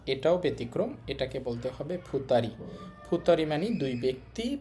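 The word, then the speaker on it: 二人: এটাকে বলতে হবে ফুতারি।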